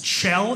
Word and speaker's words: Kjell: My name is Kjell. It's Kjell. It's Norwegian. Spelled K-J-E-L-L. Pronounced Kjell.